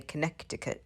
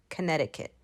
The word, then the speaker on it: Connecticut: connecticut connecticut connecticut and that second c in connecticut is silence so we don't say connecticut we say connecticut connecticut and cities in